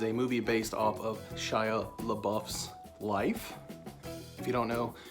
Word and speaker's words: Shia LaBeouf: lad and his real the real pronunciation of his name is Shia LeBouf so that's probably something